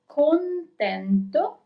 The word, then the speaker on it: contento: So we have contento. Remember to pronounce the N too.